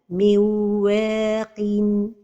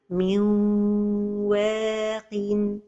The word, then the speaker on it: من واق: The mistake is to pronounce it إدغام without غنة. صبغة ونحن without غنة. And the right pronunciation is to give the إدغام غنة.